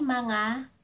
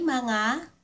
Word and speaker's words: mga: May mga mga (pronounced ma-nga) May mga kamag-anak ako sa Pilipinas.